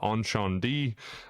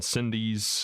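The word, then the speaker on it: Incendies: U starting out with number one, uh, on Shan D, uh, aka Cindy's is the way it looks like it's spelled.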